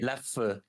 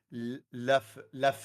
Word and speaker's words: Leffe: That's how you pronounce the E in Dutch. E. No. E. Now say it. Leffe.